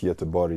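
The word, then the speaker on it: Göteborg: Pronounced Y to Bori.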